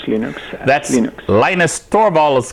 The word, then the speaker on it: Linux: audio hello this is leon stormwells and i pronounce linux that's unique linus torval is calling linux linux